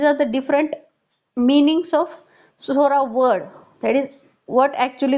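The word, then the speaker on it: psora: Greek words and actually the word is Sora that is TS o r a is silent that we call it as a SORA and actually the meaning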